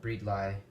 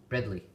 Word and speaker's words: bredli: you pronounce it uh I think that's how the Aussies pronounce it the Australians uh Bradley not breed LI or breadly but Bradley who knows well I guess